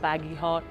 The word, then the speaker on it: Bagehot: journalist Extreme Makeover night badget Edition the badget were a little bit of a strange breed they have a funny name people can't pronounce it I think it's baggy hot I was weight listed